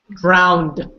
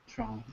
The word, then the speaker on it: drown: They say drowned. Drowned. Drowned. Drowned. Drowned. It's not how we say it. I hear some people say it though. What is the right way to say it? Drown. Just drown. That's it. So if you hear someone say drowned, just say, no, it's not drowned, it's drown.